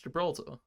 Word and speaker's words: Gibraltar: It's Gibraltar. Yeah, Gibraltar.